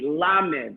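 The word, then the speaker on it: למד: Please pronounce it after me, Lamed.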